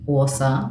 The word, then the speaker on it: Åsa: So my handle is Coach with Åsa. It's spelled ASA.